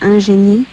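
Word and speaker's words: ingénue: Ingenue? It's actually pronounced ingenue.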